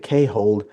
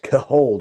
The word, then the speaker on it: CAHOLD: Okay, I was saying it wrong. I used to say hold, and then I got sharply corrected in the chat. It's hold, right?